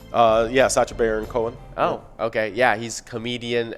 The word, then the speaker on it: Sacha Baron Cohen: hot take right we got uh 1971 uh sacha barra conan uh is that his how you say his name uh yeah sacha baron cohen oh okay yeah he's comedian an actor from